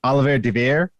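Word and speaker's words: Olivier Deriviere: It's Oliver De Veer, I think his name is pronounced.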